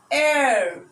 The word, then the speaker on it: heir: put and why because though these words start with a consonant letter h but the sound the sound is a vowel sound like an honest man